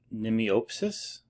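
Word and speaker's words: Mnemiopsis: up how to pronounce i think the m is silent i think it would be nemiopsis nemiopsis i'm going to call it nemiopsis terrible species names uh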